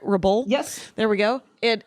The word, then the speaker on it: Rebull: Am I putting the accent on the right? Rebull?